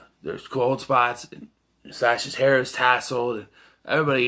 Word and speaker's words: Sasha: I'm pronouncing it Sasha because that's how Lance pronounces it.